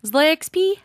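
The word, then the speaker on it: ZloyXP: So how did you say his name? Zloy. Zloy XP. Oh, you say the X. I've been calling him Zloy XP. Okay, Zloy XP. Got it.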